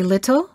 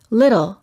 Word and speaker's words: little: better we say better before an l we don't say little we say little after an r and a vowel we don't say party we say party we don't say 40.